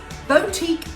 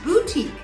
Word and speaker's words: boutique: So did you say boutique or did you say boutique? Well, boutique is the incorrect pronunciation and boutique is the proper one.